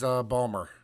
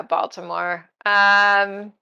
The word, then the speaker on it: Baltimore: last one is Balmer. Oh yeah, Baltimore. If you want to pronounce the T, yeah.